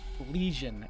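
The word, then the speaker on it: Pelegion: Pelagian is how it's pronounced.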